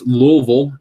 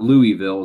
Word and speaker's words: Louisville: first three seasons with Louisville and then the next 17 with the Pirates noticed that I pronounced Louisville correctly it's not Louisville it's not Louisville it's Louisville I got family there they'd